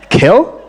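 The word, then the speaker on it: Kjell: j e l l Norwegian how would you pronounce it kill oh she got it right a keynote speaker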